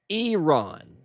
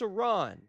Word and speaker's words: Iran: What I am hearing is Iron. Literally flat out just the wrong letter. Iron. Listen guys, if you're trying to stick up for another country and what's right, don't mispronounce their name over and o like they're just going to think you're stupid. It's four letters and you don't know how to pronounce Iran.